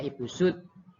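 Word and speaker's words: Ibu Soed: Ya, sini tulisannya SOD, SOED, Sweat. Ya, bacanya Ibu Sud karena pakai ejaan lama.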